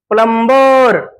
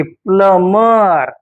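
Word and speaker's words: plumber: य एम बी आर प्लंबर नाही प्लंबर बोलायचं नाही प्लमर प्लमर बी चा उच्चार सायलेंट बी कसा कसा असतो शांत असतो बी सायलेंट असण्याचा नियम जेव्हा एम पाठोपाठ लगेचच बी आलेला असेल तर अशा वेळेस बी हा सायलेंट असतो पुढचा नियम पहा या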